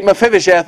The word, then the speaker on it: Mephibosheth: They said that he could say Mephibosheth in one syllable. It's a five-syllable word, you know.